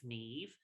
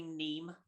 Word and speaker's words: Niamh: many British people, because there are lots of Neves in the UK, and we spell it Niaamh. It's Neve, and a lot of people, even sort of English readers, would say Neem, and I'm like, no.